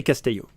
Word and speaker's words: Casteillo: and there but Casto Castillo in France we say Casto okay that's good for